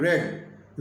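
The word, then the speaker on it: read: Spelling में कोई अंतर नहीं है। उच्चारण में अंतर रहता है। रीड पहला फॉर्म को बोलते हैं और रेड रेड सेकंड फॉर्म बोलते हैं।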